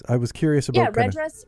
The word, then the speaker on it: REDress: I was curious about Yeah, red dress. Red dress is good.